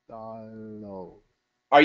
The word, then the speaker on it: dollar: do no s a dollar doll are you using a light L the tongue between the teeth lur between the tee dollar good that's that was